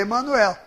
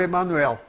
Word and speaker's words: Emanuel: Ele disse que ele também falava Emanuel. Ele disse, eu nunca falei Emmanuel, porque é um nome hebraico. Esses nomes hebraicos, todos que terminam em El, têm o acento na última sílaba.